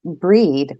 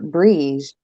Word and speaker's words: Brigid: They said it's pronounced breed or brige.